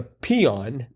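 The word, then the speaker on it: paean: um song of Praise is a peon right I think that's how you pronounce it mhm but it's spelled p a e a n right and that second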